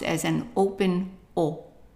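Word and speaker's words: eau: u or u a and this one is pronounced as an open o o also the Au is pronounced open o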